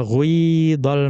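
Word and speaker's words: غيض: ya sama'u qli'i wa ghuidhal ma'. Jadi dibaca qila dan ghuidha. Dhammahnya sedikit saja, kemudian dibaca kasroh yang lebih panjang.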